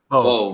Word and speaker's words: Beau: How would you say that? Beau? Bo. Bo. DeMayo.